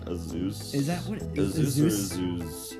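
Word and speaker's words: Azuz: It's like A-Z-U-Z, so it's like Azeus.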